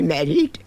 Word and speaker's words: married: Mother, when I grow up, shall I have to be married? Married. I find it interesting because it's basically merging almost with the adjective merry like merry Christmas meaning happy.